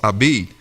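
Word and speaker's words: عبيد: harassment from classmates who called her Abid, or pronounced Abid, the Arabic word for slave stock, and other derogatory names.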